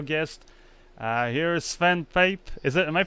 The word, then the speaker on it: Pape: uh here is Sven Pape is it am I pronouncing it properly your last name it's a pape Pape okay svan Pape and